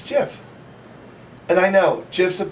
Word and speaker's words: GIF: on a daily basis gif or Jif it's Jeff and I know gifs